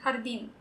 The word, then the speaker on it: hardin: It's a Spanish word, but we don't spell it like how they would in Spanish. Because again, we're very phonetic with our spellings in Tagalog, so we use H instead of J.